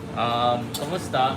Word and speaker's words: kumusta: Kumusta? Well, como estas? But in Filipino we say kumusta.